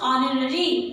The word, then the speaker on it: honorary: First of ऑल we don't speak H, we pronounce ऑनररी here.